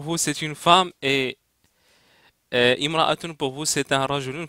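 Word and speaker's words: امرأة: Imra'atun, ça veut dire femme, c'est une femme, alors, i. Ra-ra-a-a-tun. Donc prononcer Imra-atun.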